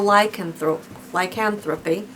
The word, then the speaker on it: lycanthropy: And the last one that I want to talk to you about is clinical lycanthropy.